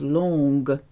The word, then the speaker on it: longer: G if you remember is soft if it's followed by an e or an i like a sure huh okay but if you want it to be a hard G with an e or an i you have to insert a u so it becomes longer not long think of baguette there wasn't a single